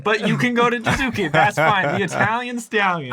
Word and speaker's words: Jiizuke: we call him, usually when people pronounce his name wrong, that is what we call him, but most of the time it's Jiizuke, because that's what he wants to be called.